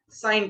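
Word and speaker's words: sine: कहते हैं हम लोग साइन थीटा। यहाँ ई जो है वो साइलेंट होता है।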